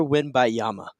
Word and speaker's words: Wembanyama: You're Victor Wembanyama. Wembanyama. I think there's another syllable in there.